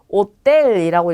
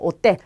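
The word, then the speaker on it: hotel: 바로 여기에 강세가 오죠. 자, 그럼 읽으실 때 오텔이라고 읽으시면 돼요. 오텔, 호텔을 뜻합니다.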